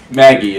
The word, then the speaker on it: Magi: So this episode, we checked out this show called Magi. or pronounced Maggie in the anime.